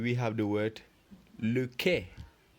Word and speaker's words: quai: And for la lettre Q, we have the word le quai. Le quai. Remember, when we are reading this word, le quai, the U is silent.